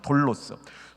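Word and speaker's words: δόλος: 이 간사함의 헬라어는 돌로스입니다. 돌로스. 좀 길게 발음합니다. 두울로스가 종이에요. 이거 좋은 겁니다. 두울로스 종, 예수님의 종 할 때 두울로스예요. 근데 이거는 돌로스입니다.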